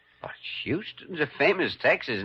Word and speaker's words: Houston: But Houston's a famous Texas name, Sam Houston. Sure, but it's also a famous Lower East Side name, the street where I was born. Except here in New York, you pronounce it Houston.